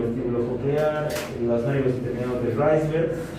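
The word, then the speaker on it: Wrisberg: Y es el nervio intermediario, o los nervios intermediarios, Reisberg, se pronuncia Reisberg, nervios intermediarios de Reisberg.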